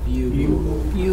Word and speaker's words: bugle: Bugle. Bugle. The accent's on the first syllable. Bugle. We don't say go.